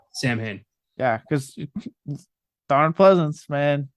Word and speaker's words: Samhain: Oh, I did like that they pronounced Samhain correctly. It's not Sam Hain, though it may look like Sam Hain.